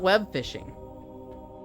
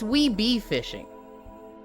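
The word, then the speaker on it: Webfishing: It's not web fishing. It's we be fishing. You're supposed to say we, and then pronounce the B on its own, and then fishing. It's like we be fishing together.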